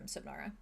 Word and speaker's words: Subnara: Only Arlo knows that, and then that she's from Subnara. Right. Yeah. How do you say that? Signara? Subnara. Oh, like you're underwater. Submarine. Like Subnautica. Subnautica.